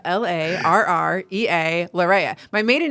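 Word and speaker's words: Larrea: the last names you have to say it spell it and then say it again so I'm like Laurea l-a-r-r-e-a lareya my maiden name was two ends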